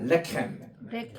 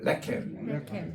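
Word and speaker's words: לחם: 따라합시다. 레켐. 액센트가 앞에 있어요. 레켐.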